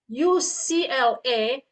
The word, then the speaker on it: UCLA: Okay, so this is UCLA. You pronounce that by the alphabet.